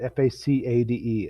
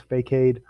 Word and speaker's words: facade: know the term facade f-a-c-a-d-e it looks like it says fake-aid but it's pronounced facade and that's the front